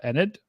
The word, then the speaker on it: Enid: We have this radar indicated tornado warning still ongoing for just northwest of Enid. Enid, I think. Is that, did I pronounce that right, Ryan?